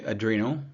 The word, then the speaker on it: adrenal: too low adreno glands I pronounce it like this on purpose to stress that they sit on top of the Reno GL uh organs right the Reno refers to your kidneys so people say adrenal or adrenal uh I'll